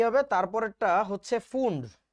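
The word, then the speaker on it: Pfund: হচ্ছে Humphry William Humphry তুমি এটাকে ফুন্ডও বলতে পারো ফান্ডো বলতে পারো তোমার ইচ্ছা বানানটা পি এফ ইউ এনডি পি টা সাইলেন্ট ঠিক আছে সো দ্যাট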